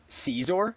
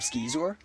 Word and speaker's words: Scizor: with a full para Caesar. Is that what you're trying to get at, Chris? That it's pronounced Caesar instead of skezor.